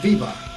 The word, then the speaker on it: Weber: alguna de esas materias, decía que se pronunciaba Viva, Max Viva en alemán.